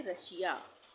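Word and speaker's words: Russia: तो इसको हम पढ़ेंगे रशिया यानी श का उच्चारण होगा।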